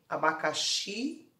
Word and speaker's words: abacaxi: Exemplo 1, abacaxi, abacaxi. Então, a sílaba tônica é o xi, você vai circular, certinho?